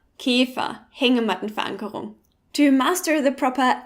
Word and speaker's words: Käfer: Let's begin with the ä, found in words like Ärger, Käfer, or Hängemattenverankerung. Many Germans, including me, pronounce it as e, like in Esel, but try to listen to the difference. Ärger, Käfer, Hängemattenverankerung. Ärger, Käfer, Hängemattenverankerung.